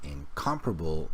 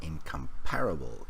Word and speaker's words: incomparable: And then the pronunciation of this word is incomparable, not incomparable, even though the spelling doesn't look like that.